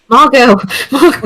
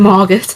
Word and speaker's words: Margot: How the Margo Margot Margo? Um, how Okay, I'm going to look that up. How would you pronounce Margo? It is. Is it Margo? Yeah. Oh, yeah. Cuz like Margo Robbie, but I think Wow,